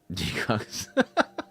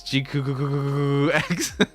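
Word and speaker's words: GQuuuuuuX: G-Cox. Quacks is fine though. I do like the Quacks thing. I think the Quack kind of is kind of funny. Jikuaksu. No, guys, it's GQX. Is how you pronounce it.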